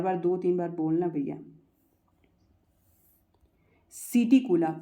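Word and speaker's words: Psittacula: सिटिकुला, पी यहाँ पर silent रहेगा।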